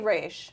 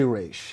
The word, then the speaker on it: Ra's al Ghul: There's two schools of thought about how you say his name. This is such name. a debate. So But- you say Raish. I say Raish.